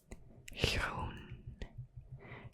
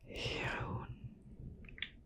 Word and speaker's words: groen: Remember with the soft G. Groen. Groen.